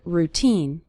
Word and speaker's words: routine: of your daily routine the syllable teen is stressed in the word routine you'll start seeing your